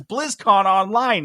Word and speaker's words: BlizzConline: have a speech impediment why do you keep saying it wrong it's blizzcon online and he's like brother